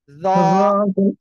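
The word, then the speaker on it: ذ: ওকে আমার দিকে তাকান জিহ্বার আগা সামনের উপরের দুই দাঁতের আগাতে লাগিয়ে এক আলিফ টেনে উচ্চারণ করতে হবে জ সবাই একসাথে জোরে জোরে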